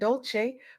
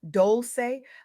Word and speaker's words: Dolce: I'm your host Dolce, pronounced doulce like sweet softness whispered in French.